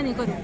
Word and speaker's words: Nicoru: Nicoru. ¿Cómo se pronuncia? Nicoru. Nicoru. Es que es Nicole, pero en japonés como que se pronuncia Nicoru.